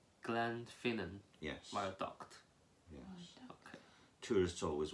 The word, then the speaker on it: Glenfinnan: yes it's easy viaduct Glenfinnan can I'm finna viaduct when you've got Glen at the start that means Valley so think of it as two words Glen and Finan Glenfinnan yes my duct tourists